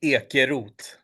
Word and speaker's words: Ekeroth: But the Swedish one would be Ekeroth, Oh, but it's hard for Americans to pronounce it.